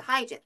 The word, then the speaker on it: hygiene: hygiene. 안녕 청바지. 이렇게 발음하시면 돼요.